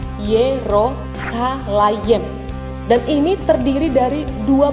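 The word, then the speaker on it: ירושלים: Kata Yerusalem dalam bahasa Ibrani itu diucapkan Yerosalayem.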